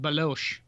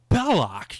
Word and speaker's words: Belloc: And by the way, his name is not pronounced Baloche. Baloche. Yeah, they call him Baloche. Belloc, you dumbass. Sala, it's Belloc.